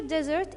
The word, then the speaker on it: desert: Here desert, it's a noun, and look here at the stress mark, it's on the first syllable.